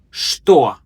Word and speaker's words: что: Что? What? Remember, it's pronounced with a sh sound, not che.